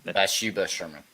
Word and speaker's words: Bathsheba Sherman: and what the lore of this place is Bathsheba Sherman, or is that how you say it? Bathsheba Sherman.